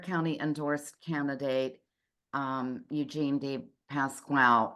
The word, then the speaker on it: DePasquale: endorsed candidate um Eugene Dave Pasqual am I pronouncing your last name correctly by the way it's Clos enough deep pass quy but it is closed enough pass quy okay apologies um so